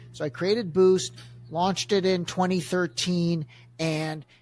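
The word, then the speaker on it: Buiced: brand called boost it's spelled like the word Juiced with a B so bu UI c d so I created boost launched it in 2013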